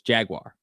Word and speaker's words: Jaguar: It's spelled J A G A U R, not J A G W I R E. It's Jaguar.